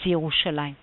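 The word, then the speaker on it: ירושלים: material yerushalayim both are to be read as yerushalayim what am i showing you here i'm showing you here a different pronunciation following the aramaic pronunciation which is yerushlem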